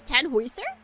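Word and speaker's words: Tannhäuser: The actual German pronunciation is 10 hoister.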